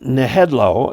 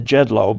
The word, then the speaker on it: Nejedlo: um i'm saying headlow it could be the jedlo but i'm thinking the j is pronounced as an h thank you very much